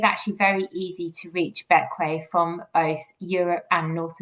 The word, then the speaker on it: Bequia: So despite being spelt like Bequia, it's actually pronounced Bequia.